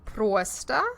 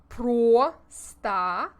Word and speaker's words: просто: When o is the emphasized syllable, we need to make our mouths into an O shape. But when it is not the emphasized syllable, as in Просто. We relax our lips and it becomes more of an ah sound.